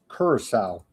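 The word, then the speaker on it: Curaçao: Let me pronounce this correctly for you. Kurissau. On this day of May 21st, we go back to the year 1793. Kurissowl Island Council forbids criticism of House of Orange.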